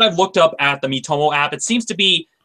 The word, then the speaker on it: Miitomo: Miitomo?